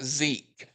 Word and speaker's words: Sieg: And Sig is not, well, it's actually pronounced Zeke, but it's not a native Japanese name. It's Siegfried. but it's a loan word frequently used in pop culture, anime, and manga. It is derived from the German word Sieg, which means victory or triumph.